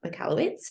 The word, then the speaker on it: Michalowicz: read that book, which is obviously by Mike Michalowicz, and I think I pronounced that correctly.